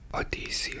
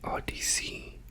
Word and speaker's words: Odyssey: Is it Odyssey or Risa? Because to me Odyssey sounds closer to what it should be. Odyssey is right. Odyssey. Yeah, I think I answered my own question. It's just in Spanish it's odis o.